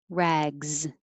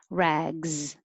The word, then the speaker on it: rags: true example sits 13 rags that s looks like an s but sounds like a z rags 14 clean clean so